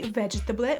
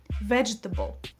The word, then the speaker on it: vegetable: People often say vegetable with four syllables. It's usually pronounced with three syllables. Vegetable.